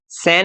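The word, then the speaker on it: scene: तो इसके लिए जरूरी है कि एस सी के बाद में ई आए या आई आए, तो उस कंडीशन में ही ये क्या होगा, सी साइलेंट होगा।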